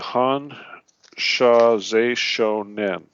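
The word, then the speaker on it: Hon Sha Ze Sho Nen: All right, that's spelled, first word, H-O-N, Han, Sha, S-H-A, Ze, Z-E, Z, if you will, Shou, S-H-O, and Nen, N-E-N.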